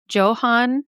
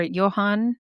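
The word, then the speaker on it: Johann: His name was Johan or Johan, depending on how you want to pronounce it.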